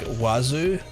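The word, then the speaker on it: oiseau: Your favorite word is osu pronounced like wazu. Six letters, three sounds. It's a bird in a in French.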